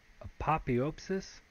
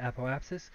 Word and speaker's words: apoapsis: went over our app apotheopsis I guess is how you pronounce that apoapsis apoapsis means the highest